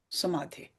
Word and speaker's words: samadhi: Samadhi. See samadhi sounds like rhymes with vyadhi.